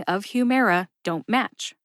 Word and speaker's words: Humira: match not a problem she just said Humera is just how it's pronounced okay lady I accept